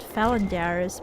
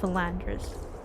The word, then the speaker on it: Philandris: I pronounce it Phalandaris, but if I'm not mistaken, through a cutscene we learned that it's pronounced Philandris.